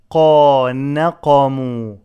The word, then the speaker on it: نقموا: وما نقموا منهم إلا نون is light قاف is heavy نقا not نا نقموا وما نقموا منهم إلا